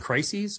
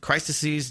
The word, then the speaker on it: crises: are uh you know is it crises or crisises am I saying it wrong I always say crises I've heard it that crisises just sounds stupid it does sound stupid I'm gonna start saying